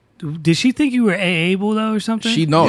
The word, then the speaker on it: Aable: like, oh, I love Aable's music. And so it prompted me in my Instagram to put in quotation, in parentheses, how you say it. It's just Aable. It's like Hey Arnold, but hey Yo.